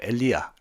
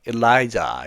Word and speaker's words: Elijah: god 자 라자 엘리예요 엘리아 자 우리식 발음하고 영어식 발음이 상당히 차이가 있죠 영어로는 엘리아는 엘라이자 이렇게 됩니다 엘리와 And The Power